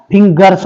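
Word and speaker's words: fingers: झालं फिन आणि जर्स फिन जर्स किंवा फिंगर्स हा जी चा फिंगर्स असा होतो ज होत नाही फिंगर्स म्हणजे अनेक वचन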